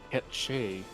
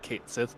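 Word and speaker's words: Cait Sith: Uh, gate Sith, which is pronounced uh Ketche is Gaelic. Is Gaelic. Scottish Gaelic. So, yeah, it could be Yeah. Yeah. Ketch instead of Kate Sith, but then everyone pronounces it Kate Sith because uh that's what it sounds like and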